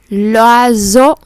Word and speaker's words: oiseau: Nó có hai chữ S rồi, mình đọc lại chữ S bình thường được rồi. Le poisson, l'oiseau, vì có một chữ S nằm ở giữa hai nguyên âm.